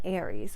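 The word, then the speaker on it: Ares: shows on there and this show is called aries but it's spelled a-r-e-s and basically the premise of this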